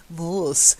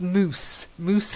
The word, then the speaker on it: moose: then the next one it's not very Dutch moss no it's moose moose hide moose hide most most